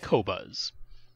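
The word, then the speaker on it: Qobuz: then he just heard about title and queue pronounce it kobas and people saying overall they sound better did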